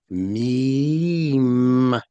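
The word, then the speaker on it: ميم: This letter Meem begins with an M sound and it ends with an M sound. Meem. See, begins with an M, ends with an M.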